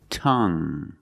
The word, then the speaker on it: tongue: have this word tongue the UE e at the end is silent so we pronounce it like young tongue you have only the nasal sound there's no G it's just the sound tongue this is my tongue